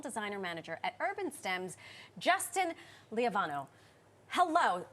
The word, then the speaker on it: Lievano: manager at UrbanStems, Justin Lievano. Hello. Am I saying your name correctly? You are. 4 syllables. Lievano.